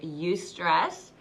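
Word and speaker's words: eustress: got that negative stress you stress which may be a word that you've never heard of before it's spelled e you STR ESS this is the kind of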